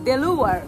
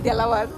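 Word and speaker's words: Delaware: আমরা চলে আসছি বেথানি বিচ, ডেলাওয়ার। এটা উচ্চারণ করতে আমার খুবই কষ্ট হয়, এটা আমরা বাংলায় বলি ডেলাওয়ার, বাট এটা হবে ডিলাওয়ার, সো খুবই ইম্পসিবল।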